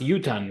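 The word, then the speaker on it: יוּתַּן: Right, there's the shuruk, the three dots. It's pronounced Yutan with Yutaf Nun.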